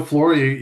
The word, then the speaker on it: Flohr: Um but yeah, Flory, you pronounced it right.